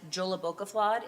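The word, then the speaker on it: Jólabókaflóð: The board has our that is Joolabokafla is how you say that.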